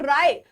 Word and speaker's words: राय: और राय जो राव नहीं होगा। राय होगा यहां पर थोड़ा सा एक स्पेलिंग मिस्टेक हो गया। राय। ठीक है? राव नहीं राय।